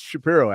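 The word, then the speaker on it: Chapiro: It's Shapiro actually, but it's spelled with a C.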